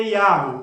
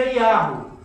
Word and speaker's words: Yahweh: Acredita-se, a possibilidade maior é que a pronúncia verdadeira seria Yahweh. Por quê? Achados arqueológicos e o nome de muitos personagens da Bíblia.